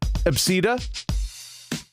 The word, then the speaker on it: Abcde: Someone's name is ABCDE, and you pronounce it Absida.